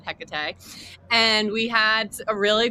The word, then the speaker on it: Hecate: Yeah, we talked today about Hecate or Hecate. We were like trying to decide on pronunciation, but we decided Hecate.